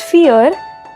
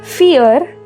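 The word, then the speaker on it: vier: of this word is fear as the alphabet V of English is foul in German it is pronounced as F alphabet V is pronounced as F so it becomes fear films x/z bin at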